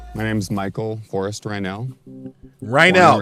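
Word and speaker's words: Reinoehl: Rynell, that's how you say his name. Rynell. Now I know how to say it. For all of you who are looking to be able to say his name later in the day, Lord's the night, it's Rynell. Portland, Oregon, 48 years old.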